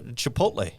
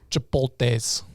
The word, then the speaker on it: Chipotle: Oh, Chipotle. Okay, just checking. So you're not true dad level yet. Well, you could also pronounce it chipotle. Oh no. I like this one. Chipotles.